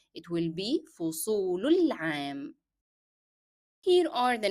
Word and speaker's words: فصول العام: And since the definite article al is preceded by a short vowel dhamma on lam, then alif in the definite article alif and lam in the word al-am will not be pronounced. So you will move from the short vowel dhamma directly to lam.